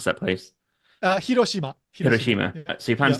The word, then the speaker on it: Hiroshima: Kyoto to hirosima or hoshima how do you pronounce that place uh Hiroshima hirosima so you plan to do a walk